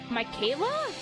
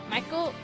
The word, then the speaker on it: Michael: must be Little M Michaela Michael Michael how do you pronounce this it's not Michaela um Mich then uh